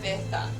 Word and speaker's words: Lavitha: Lavitha. Lavatha. Lavitha. Not Lavatha.